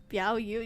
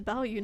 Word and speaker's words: Bao Yu: Biao Yu. No, his name is Bao Yu, not Biao Yu.